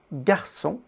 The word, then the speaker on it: garçon: But to force it to be pronounced G, we also add a U between the G and the vowel, just like in English. So it is girafe, garçon, guide.